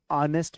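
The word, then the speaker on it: honest: बोलिए well to बी ऑनेस्ट with you ध्यान रखना ये नेस्ट मत पढ़ना ठीक है ये एच साइलेंट है इसे पढ़ना ऑनेस्ट ऑनेस्ट well to बी ऑनेस्ट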